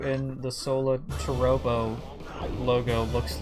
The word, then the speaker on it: Solatorobo: That's why I tried and pronounce it as Solatorobo, just because that's more of an accurate pronunciation.